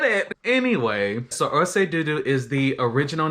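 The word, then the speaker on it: ọṣẹ dúdú: Anyway, so Orse Dudu is the original name, or how it is pronounced within the Yoruba tribe.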